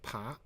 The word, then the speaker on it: 扒: Now, second pronunciation of this character is 爬.